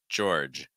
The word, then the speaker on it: George: kids named George um so you have an or sound then add a j sound before it and then finish with a J finish make sure that that last G sound his voice so finishing on a j j George George so it's not George it's George um Ivan Ivan um no